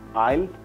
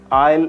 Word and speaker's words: aisle: Aisle and aisle, these two are basically pronounced the same, but they mean, you know, quite different. And you can see the rule over here. IS. And IS, of course, IS is, S after an I is going to be silent